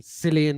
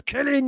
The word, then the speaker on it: Cillian: boils the piss of when they pronounce his name Cillian Murphy on one of the other live streams? I'm just like, I want to scream into the microphone. It's Cillian, you dopes.